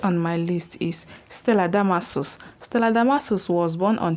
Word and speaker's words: Damasus: my name is not damascus my name is really not damascus there's no c in my name i know you shout